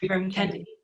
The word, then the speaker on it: Ibram Kendi: Ibram Kendi? Ibram Kendi.